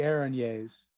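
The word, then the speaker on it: Erinyes: word she said she was one of the ereniers um from the nine hells which is the actual pronunciation i did look it up oh god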